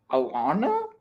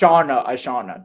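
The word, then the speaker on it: Ishana: I don't want to mispronounce it. Alana? No. Nah, Well, it's Ashana.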